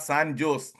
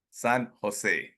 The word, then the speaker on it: San Jose: SOS s okay right it is not San Jo it is San Jose San hos not H San Jose one of